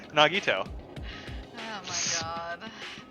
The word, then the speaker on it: Nagito: she's like no it's nagito i'm like i don't understand oh wait i know how i remember it eggnog on your toes there we go i'll